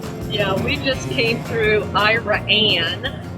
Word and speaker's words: Iraan: Yeah, we just came through Iran, which is spelled Iraan. Second A's for America. Iran. It is kind of funny because that's Iran, which is almost like Iran.